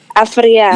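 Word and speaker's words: Afryea: So your name is Afria, right? Afria. Yeah, Afria. And that is spelled A-F.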